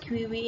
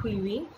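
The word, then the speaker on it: Chewiwi: It is written C-H-E-W-I-W-I, but it's pronounced as Quivi in her language. E. Ashwar's pen name is E. Ashwar, but her actual name was Louis Abatha Quivi.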